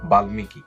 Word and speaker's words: বাল্মীকি: এখানে ন এর সাথে মটা যুক্ত হয়েছে এবং এই মটা উচ্চারণ হয়েছে চিন্ময় বাল্মীকি এখানে ল এর সাথে মটা যুক্ত হয়েছে এবং মটা উচ্চারিত হয়েছে বাল্মিকি ইত্যাদি মফলা উচ্চারণের